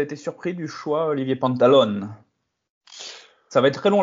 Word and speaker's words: Pantaloni: va s'y habituer Olivier Pantaloni est-ce que tu peux nous présenter nous expliquer qui est le nouveau coach du FC Lorient alors déjà c'est Olivier pantalon on prononce pas les i à la fin d'accord excuse-moi euh bah